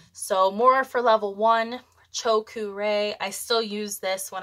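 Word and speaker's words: Choku Rei: and the first one choku Ray so r e i is pronounced re like a sunshine Ray or ray-bands chokure this is the power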